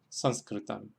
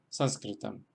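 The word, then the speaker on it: Saṃskṛtam: La segunda fila tenemos ejemplos en los cuales se acentúan en la primera sílaba porque la segunda sílaba es corta.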